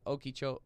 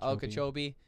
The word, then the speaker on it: Okeechobee: lifetime what would it be and it was okie cho how do you say it okeechobee and then another one i hadn't heard of